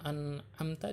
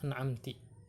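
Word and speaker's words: أَنْعَمْتَ: Fatihati, pada surah Al-Fatihah, ka an'amti bikasrin, seperti bacaan an'amta dibacanya dengan an'amti, au dhammin, atau dibacanya dengan dhammah an'amtu, maka bacaan yang salah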